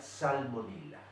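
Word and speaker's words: Salmonella: genio sal con ella se escribe están con ella con doble y se pronuncia salmonela por qué motivo se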